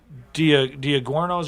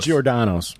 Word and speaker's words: Giordano's: DiGiorno, but there was a place in Chicago off of Southport and, in Wrigleyville, Diagorno's or something. I don't know. I'm mispronouncing it. but it's Giordano's.